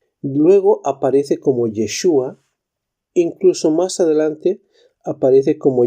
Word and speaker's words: Yeshua: el primer versículo como yeshu luego aparece como yeshua incluso más adelante aparece como yehoshua es decir